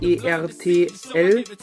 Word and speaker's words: Ertl: Wie spricht man das aus? E-R-T-L, Ertl.